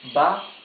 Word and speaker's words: debajo: Debajo, debajo. Again, the J is okay, rough sound.